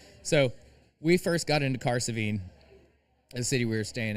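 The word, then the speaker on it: Cahersiveen: The best was so we first got into Caravine, the city we were staying in. And by the way, that is spelled C A H E R S I Ven. Caravine.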